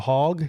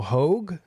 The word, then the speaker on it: Hogue: his name is not michael hogg it's michael hogue oh i can't believe i've been calling him michael hogg for a long time